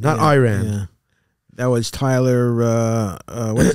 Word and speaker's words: Iran: And the reporter said, well, first of all, you pronounce our country's name wrong. It's Iran, Iran.